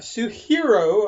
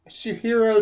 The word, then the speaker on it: Suehiro: but he sent me a suit hero I believe is how you pronounce it combination 1k and 3k